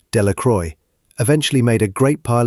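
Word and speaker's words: Delacroix: Bobby and Harry Jones and Dicky Deacro, the villagers pronounced this name Delroy, eventually made a great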